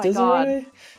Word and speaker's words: Desiree: Is it pronounced Desiree? Desiree, yeah. Oh. I kind of assumed it was like desire.